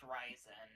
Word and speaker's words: Ryzen: Also, it is pronounced Ryzen.